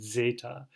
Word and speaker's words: zeta: Zeta, which as they tell you here is like this it's considered a double consonant. You have a DZ sound, zeta.